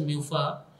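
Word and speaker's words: MUFA: Mono unsaturated fatty acid generally pronounce as म्यूफा having only single double bond in its structure.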